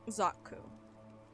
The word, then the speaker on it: Zaku: Zaku. Shak TTS said it right. Okay. You said the English pronunciation is right.